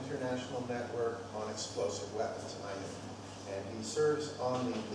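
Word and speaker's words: INEW: And is a founding member of the International Network on Explosive Weapons, INU. That's how you say it, right? When you learn it, INU.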